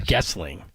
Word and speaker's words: Goessling: I was calling him Gosling. I apologize. It's spelled Goessling. So everyone. How would you know? Like Ryan Gosling. Gessling. Yeah, it's Gessling.